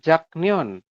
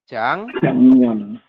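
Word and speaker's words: 작년: Tetapi di aturan baca nomor 4, ya teman-teman nanti bacanya jangan Jaknion. Tapi berubah menjadi gimana ya Rebun? Menjadi Jangnion.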